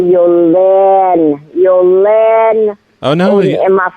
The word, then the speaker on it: Yoline: When I pronounced my name to her, I did not say it had a diacritic mark over the first E. You know, in French, there's a diacritic mark with a backward slash on the E.